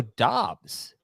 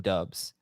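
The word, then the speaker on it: Doubs: So seeing a comment here in the chat, apparently it is Romeo Dobbs. And he had to correct it because all throughout his college career, his coach called him Dubs.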